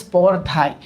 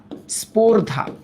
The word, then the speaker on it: স্পর্ধায়: এবার দেখো, স্পর্ধায়, এটার উচ্চারণ কি জানো? স্পর্ধা, স্পর্ধা, এটার উচ্চারণ হচ্ছে এইটা, স্পর্ধা, স্পর্ধা, ঠিক আছে? আর যদি বলা হতো স্পর্ধাই, তখন এটা হতো।